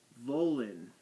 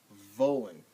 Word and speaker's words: wollen: W's in German are pronounced like V's in English. So Welt. Do I have any other W words on here? Wollen. The word to want. Wollen.